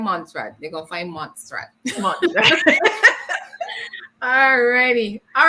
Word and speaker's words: Montserrat: I keep forgetting the T in Montserrat.